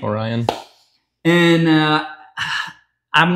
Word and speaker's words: Orione: wrong but I believe we pronounce in America we just pronounce Orion Orion and uh I'm not